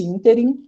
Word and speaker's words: ínterim: então tem que lembrar essa palavra aqui é uma palavra proparoxítona e como palavra proparoxítona necessariamente tem acento significa o espaço entre